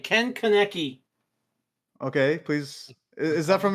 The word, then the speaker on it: Ken Kaneki: say It's Ken Kaneki. He said my second name. It's spelled- And Kaneki, dude.